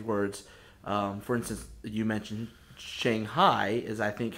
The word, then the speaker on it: Shanghai: the common Chinese words, for instance, you mentioned Shanghai is, I think, how we normally refer to it. And how is it pronounced over there? It's actually Shanghai. Shanghai.